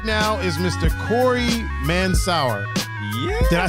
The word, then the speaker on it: Mansour: But the Americanized pronunciation of it, I guess, would be like Mansour. So Mansour. But it's Arabic, Lebanese derived. You know, my family. Okay, so then what's the actual pronunciation? Would be Mansour.